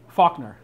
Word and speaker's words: Falconer: Falconer. Faulkner. Yeah. But it's spelled Falconer. Yeah.